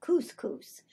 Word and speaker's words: couscous: of being but another one I had somebody mispronounced couscous I remember my introduction to couscous it was